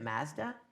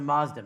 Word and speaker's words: Mazda: So you pronounce it Mazda? No, it's a Mazda, man.